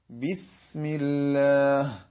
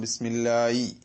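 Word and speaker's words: بِسْمِ اللَّهِ: അത് ആ ഒരു കാറ്റോടുകൂടെ ഹി ഹി ഹി ഹി എന്ന ശബ്ദത്തോടുകൂടി വന്നാൽ മാത്രമേ ഹ ആയി പരിഗണിക്കുകയുള്ളൂ. അതേസമയത്ത് പലപ്പോഴും ശ്രദ്ധിക്കാത്തതിന്റെ പേരിലും പ്രാക്ടീസ് ചെയ്യാത്തതിന്റെ പേരിലും ബിസ്മില്ലായി, നമ്മൾ ബിസ്മില്ലായി, അൽഹംദുലില്ലായി, ഇങ്ങനെ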